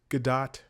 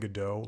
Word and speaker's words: Gadot: It's like Gal Gadot. I think she says Gadot, and everybody else has been saying Godot, like waiting for Godot.